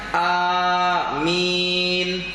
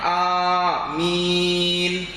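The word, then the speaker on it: آمين: empat bacaan yang pertama kita boleh baca dengan bilmaddi Wat takfifi membacanya Amin jadi hamzahnya itu panjang amin Kemudian yang kedua yang kedua itu dibaca bilqasri Wat takfifi dibaca pendek hamzahnya berarti Bagaimana kalau dibaca pendek Amin yang kedua yang ketiga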